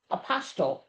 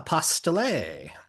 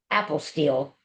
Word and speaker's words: apostille: word meaning certification, but there are many ways to pronounce it. A common one I hear from lots of notaries is apostl or uh apostto. And then there's my personal favorite, Apple steel.